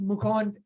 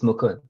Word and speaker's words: Mukund: a person tell me am i mispronouncing your name or how do you say your name no that's quite good it's mukund tell us a little